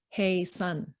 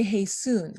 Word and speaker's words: Haesun: up by the way my name is pronounced hey sun like like saying hey to sun the last thing is moon and usually that's what confuses people so somehow people they call me hey soon i don't know why